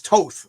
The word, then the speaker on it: Toth: It Toth, as in both. So it's Toth.